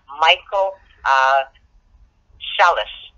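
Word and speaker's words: Michael Psellus: was a particular individual Michael Celes and I don't know if I'm spelling that I'm saying that right but it's spelled - sometimes P is silent it's PS ll us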